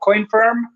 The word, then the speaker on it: Coinfirm: He is the founder and CMO of a company called Coinfirm. I think I'm pronouncing that right.